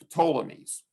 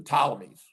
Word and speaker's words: Ptolemies: uh the seleucids and the ptolemies or the ptolemies it's up to you whether you want to pronounce that p or not um the antigonids so